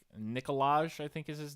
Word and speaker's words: Nikolaj: and I mean, hell, like Nikolaj, I think is his name. Coster Nikolaj. Waldau. I don't think the J is pronounced, but yeah. I'm making a Nikolai.